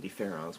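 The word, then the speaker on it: différance: And in French, différence and différence with the E and the A are pronounced the same way.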